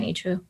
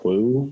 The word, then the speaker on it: H Woo: And I know there's a lot of people that are like, how do you say your name? Is it Woo? No, it's AYch-wOO.